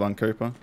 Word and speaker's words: Uncuepa: And I just started writing down syllables on a notepad and throwing them together, and I liked the sound of Uncuepa, and I just spelt it like that for some reason.